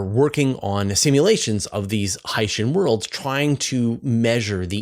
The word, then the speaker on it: Hycean: Hycean world, but then when you say it's hydrogen and ocean, then you say Hycean. Yes, you're in the field. I've also been told that Hycean is the right pronunciation. Yes, Hycean is the correct pronunciation.